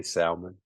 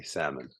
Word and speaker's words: salmon: that I just say Salon okay I'm from South Carolina sorry a little uh country dialect came through uh I do know that it's a silent h so I meant to say salmon uh um yeah so